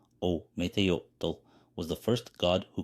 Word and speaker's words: Ometeotl: When there was only darkness in a huge void, Ometeotl, Nahuatl pronunciation, Ometeotl, was the first god who created itself.